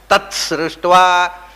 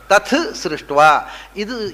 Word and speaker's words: ತತ್ ಸೃಷ್ಟ್ವಾ: ಮುಂದೆ ಸಕಾರ ಬಂದಾಗ ಇದು ಮಹಾಪ್ರಾಣವಾಗಿ ಬಿಡುತ್ತೆ. ಹಾಗೆ ತಥ್ ಸೃಷ್ಟ್ವಾ, ಇದನ್ನು ಮಾತ್ರ, ಈ ಒಂದು ಪ್ರಾತಿಶಾಖ್ಯದ ನಿಯಮ ಅನ್ವಯವಾಗುವುದು ಯಜುರ್ವೇದಿಗಳಿಗೆ ಮಾತ್ರ. ಋಗ್ವೇದಿಗಳು ತತ್ ಸೃಷ್ಟ್ವಾ, ತಥ್ ಮಾಡೋದಿಲ್ಲ ಅವರು. ತತ್ ಎರಡು ವಿಧವಾದಂಥ ಉಚ್ಚಾರಕ್ಕೂ ಕೂಡ ವೈದಿಕ ಸಮ್ಮತಿ ಇದೆ.